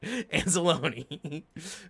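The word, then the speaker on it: Anzalone: um yeah exactly romeo it's anzolone because you know there's the other way to pronounce it that everybody on the internet immediately goes for but so jimmy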